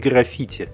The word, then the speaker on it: граффити: Джорджа Лукаса американский граффити Хотя специалисты утверждают что правильнее всё-таки произносить граффити как это говорят американцы American graffi фильм Вышел